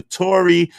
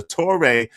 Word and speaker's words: Torre: Hey, so today's show today's show is the Tori versus the Toré. I'm sorry. I'm sorry. I mispronounced the Tore versus Dr.